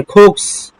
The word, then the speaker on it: cooks: My mother, কুক বলবেন না, খয়ের উচ্চারণ করবেন, কুকস।